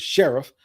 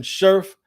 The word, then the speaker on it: Scherff: keep hearing his name i keep hearing his name pronounced as sheriff but brandon scherff a big strong nasty